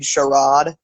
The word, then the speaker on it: charade: i didn't realize that in britain they pronounced charade sharad i like that part of it yeah yeah i was expecting him to say haha charade you are but he